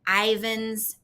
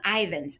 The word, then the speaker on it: Ivins: And so she lives in this giant house in Ivins, Utah. I checked the pronunciation on that. That's correct. All right. So she lives in Ivins.